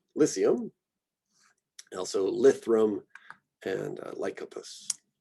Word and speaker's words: Lycium: Lycopus, we've got here a soft C, Lycium. I hear that as the pronunciation more than like a lyceum. Lycium.